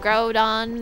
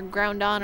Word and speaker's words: Groudon: cuz he said Mega Groudon or groundon or however you pronounce that I don't know it doesn't have a second end first end it's just Groudon or a groundon Groudon I'm going with Groudon too chobin and Groudon